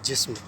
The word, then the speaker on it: جسم: ادا کیا جائے گا۔ اس لیے اس کو صحیح انداز میں تلفظ اس کا پیش کرنے کے لیے آپ اس کو جسم نہیں، اس کو آپ جسم بولیں گے، جسم۔ اسی کا ہم آواز لفظ ہے حسن، ٹھیک ہے؟